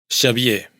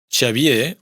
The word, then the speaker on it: Xavier: Pero cuando está en posición inicial de palabra se pronuncia sh. Xavier, Javier, chocolata, chocolate. Atención porque hay una tendencia a pronunciar esta sh inicial con un poco o un mucho de ch, es decir, en vez de xavier, mucha gente dice chavie o chavier, sobre todo en el diminutivo chavi.